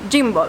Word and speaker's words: gimbal: Recording a video with the phone is not professional exept with a gimbal WARNING During this video I pronounce Gimbal incorrectly (as a good italian) The G of Gimbal is pronunced GH!